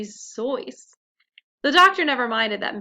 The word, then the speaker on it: Seuss: Fun fact, Seuss is supposed to rhyme with voice, not goose, so it's actually supposed to be Zoice.